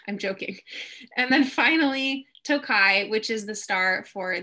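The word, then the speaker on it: Tokaji: and it's spelled it's pronounced toe like your toe on the foot kai so tokai is what we're drinking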